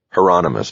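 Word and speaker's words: Hieronymus: Heronomous, Bosch said.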